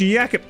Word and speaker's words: Jacob: yet all right Jacob let's pronounce yakob sir it's it's yakob I'm calling you Jacob I don't care it's yakob reminds me yesterday of